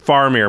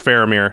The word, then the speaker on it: Faramir: I always miss around it's faramir how do you say it farmer because when I was a kid yeah but it's supposed I've been told it's pharamir Steward of Gondor how do you say it yeah for a mirror I don't know yeah there's four of them just kidding faramir I think that's right whatever one a white